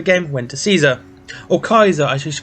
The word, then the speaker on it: Caesar: went to caesar or kaiser i should pronounce him properly i actually did some research on him and this is the actual pronunciation is kaiser not caesar anyway if you didn't